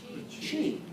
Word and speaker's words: qi: Qi. Yeah, qi. It's spelled Qi.